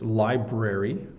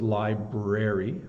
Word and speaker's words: library: the BR so it's library library I'm going to the Li library to get some books but often people um get lazy and don't pronounce the r and it's incorrect and it will make